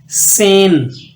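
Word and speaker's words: zehn: next आपके पास न आप जड को सीन की आवाज में पढ़ेंगे यानी एस कीस सेन इसको जेन नहीं पढ़ना इसको पढ़ना है सेन यानी जड जो है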